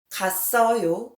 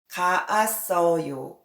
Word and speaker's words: 갔어요: 갔어요 is shorter and much easier to pronounce than 가았어요.